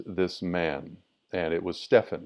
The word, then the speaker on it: Stephen: you would call him stephen like dear brother steven here you're you're spelled the same way but ph is is fu not va so anyways i just